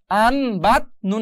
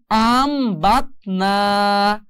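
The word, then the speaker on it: أَنْبَتْنَا: আর সেই জন্য এখন উচ্চারণ হবে আন থাকবে না, আম হয়ে যাবে। তাহলে আম বাত না, আম বাত না, আম বাত না।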